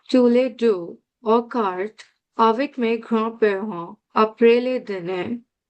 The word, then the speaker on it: avec: Okay, so avec, we pronounce the C. That's one of the ending letters that we learned last time that we pronounce at the end of words.